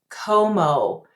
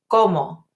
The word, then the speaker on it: cómo: The word how, como. Too many students say it like this, como. See how I'm moving my lips? I don't want to do that for Spanish. The word is como.